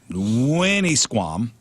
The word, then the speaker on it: Winnisquam: Swimmy Winnisquam. That is how you pronounce it.